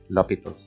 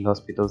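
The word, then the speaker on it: L'Hôpital: টপিকটা আছে সেটা হচ্ছে লপিতালস রুল বা অনেকে এটাকে লপিতালস রুলও বলে বা এল হসপিটাল রুল বলে আসলে এই লসপিতলস যেটা হচ্ছে সঠিক উচ্চারণ না সঠিক উচ্চারণ হচ্ছে লপিতলস এখন এই লপিতস রুলটা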